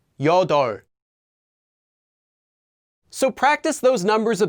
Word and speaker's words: 여덟: practice along with me hana notice that eight is pronounced as yoda so practice those numbers